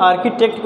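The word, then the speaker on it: architect: लोग क्या कहते हैं आर्किटेक्ट बोलते हैं और इसमें ह लेटर क्या है साइलेंट है सबसे में इंपॉर्टेंट थिंग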